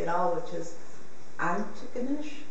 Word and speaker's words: Antigonish: at all, which is Antigonish. Antigonish. Antigonish. Antigonish. Antigonish. Like I tried so much to say that. I've never been able to get the accent right on the first syllable.